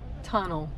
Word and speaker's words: tunnel: En español y en inglés casi se escriben igual, pero la pronunciación es la que cambia. En español es túnel y en inglés tunnel.